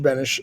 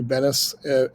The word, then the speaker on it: Benes: It looks like it should be Bennis, and for the parents, for the adults in the room, Elaine Bennis was the woman on Seinfeld. My family pronounces it Benish, like an H at the end.